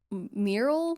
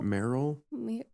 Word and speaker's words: Merrill: I kept saying his name wrong. Mural. Mur mural. Mural. Merl. Merl. M E R R I L. Merl. Merl. Merrill.